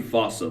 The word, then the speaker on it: fossa: Bane to lemurs everywhere the fusa although it's spelling I'm pretty sure it's actually fossa but the day I pronounce it like that is the day I lay my childhood to rest the foosa is pretty much a